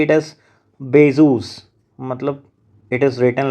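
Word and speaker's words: Bézout: Actually it's a French term. It's a French name of some mathematician. So that's why we say it is Bezos.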